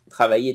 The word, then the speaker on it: travailler: Travailler to work. How do you pronounce it? Travailler? How do you pronounce it? The double L is y.